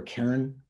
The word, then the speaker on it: cairn: Am I pronouncing that right? Cairn or cairn? Cairn. James is nodding.